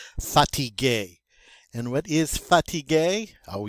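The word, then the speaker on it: fatigué: that is fatigue and in the feminine it is still fatigue it's just spelled with an extra e so you don't hear a difference in the pronunciation you just see the difference in the spelling but they're both pronounced satige and what is fatigue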